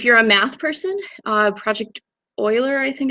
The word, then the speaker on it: Euler: If you're a math person, Project Euler, I think it's pronounced, is a very great way to transfer from generic math concepts into programming problems.